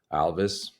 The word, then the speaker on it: Alvys: And by the way, we pronounce our company Alvys, like Elvis.